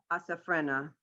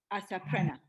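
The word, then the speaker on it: אֲסַפְּרֶנָּה: Asaprena. There's a dot in the middle. Asaprena. That's what I said, yeah, asafrena. Am I saying it wrong? It's like a P. Yeah, it's not an F sound. It's a P sound.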